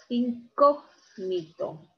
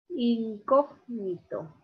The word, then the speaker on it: incógnito: Incógnito. Incógnito. La mayor fuerza de voz. Bien. Está aquí, cog, 1, 2, 3, es esdrújula.